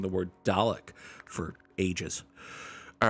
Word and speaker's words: Dalek: I was going to say trombone Alec, but no, I was mispronouncing the word Dalek for ages.